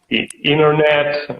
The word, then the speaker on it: internet: letter the consonant yeah letter T usually easily drops after it internet usually and all Russian take